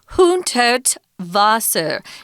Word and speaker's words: Hundertwasser: But it's Friedensreich Hundertwasser. Notice that the W in German is pronounced with a V sound.